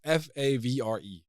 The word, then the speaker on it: Favre: Nobody questions Brett Favre. It's obviously Brett Favre. It's not Brett Favre. It's Brett Favre. It's Favre.